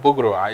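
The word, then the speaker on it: boegroe: It's called bugro, because I know about it.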